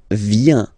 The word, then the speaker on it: viens: So, the first form is je viens. Je viens, okay? Remember this I, viens, and then this nasal. Final S not pronounced.